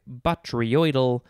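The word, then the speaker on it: botryoidal: blonde bottle brush i am going to pick batriodel as the word of the episode it is spelled again b o t r y o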